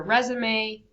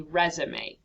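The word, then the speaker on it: résumé: You can also watch this French guy pronounce it correctly as well, but it is called a resume, not a resume.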